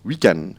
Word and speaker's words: weekend: weekend et bien là à Maurice ça se prononce weekend on prononce pas le de final et pour